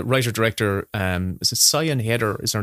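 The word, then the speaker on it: Siân Heder: the um the writer director um is it Sayan header is her name I believe it is so no sha header is it sea as I pronounce her name okay it's written really weird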